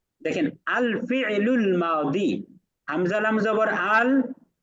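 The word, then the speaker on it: ماضي: কারণ আপনি মা দি বলবেন তখন হয়ে যাবে দাল লিয়াজের দি।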